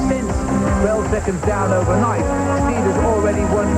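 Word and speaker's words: Stieda: Now there's a new name for the French to pronounce. They say Steeda.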